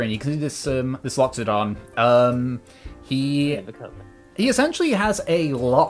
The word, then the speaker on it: Loxodon: L There's an O in there that he's not saying. Yeah, Loxodon. Oh. Loxodon.